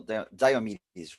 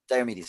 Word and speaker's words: Diomidis: Hello, Diomidis, right? Yes, thank you. Pronounce correctly your name. First Excellent. question. Diomidis.